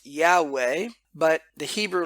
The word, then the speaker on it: Yahweh: would say in English most commonly it is pronounced Yahweh but the Hebrew letters is Yoda hey valve